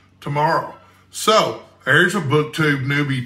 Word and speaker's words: Tamara: arbitrary stupid goal by tomorrow shopson and you can see how the name is spelled I thought it was pronounced Tamara until I watched some YouTube videos and it is pronounced tomorrow so there's a booktube